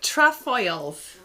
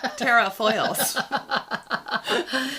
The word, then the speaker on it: Trefoils: The trefoils. Or as you would pronounce them, terrafoils.